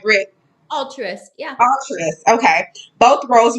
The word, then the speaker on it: Altruist: well, she is the head of education for All Trust. Did I pronounce that right, Britt? Altruist, yeah.